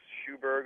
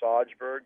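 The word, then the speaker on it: Sjöberg: big Morris Lukowich fan, Lars Erik Schuberg, although I used to call him Sajberg because I didn't know how to pronounce it.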